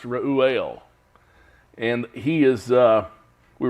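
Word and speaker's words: Reuel: L is how we spell it but it's pronounced Ruel and he is uh we were told in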